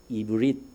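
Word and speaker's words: עברי: 우리가 보통 히브리 이야기하잖아요 히브리 이게 오리지널 발음을 하면 이브리 합니다 이브리 이게 에과 같은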